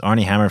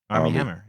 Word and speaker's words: Armie Hammer: Dwayne "The Rock" Johnson wants Arnie Hammer for Shazam.